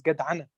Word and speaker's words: gadana: the concept here of gadana in case I say it wrong. Oh, that was a very good attempt. The word is gadana, and it's an Arabic word, but very, very often